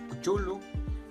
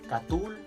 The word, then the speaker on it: Cthulhu: Lo más convencional es que lo escuches como Cthulhu, Cthulhu, Cuchulu, Catul, Klulu.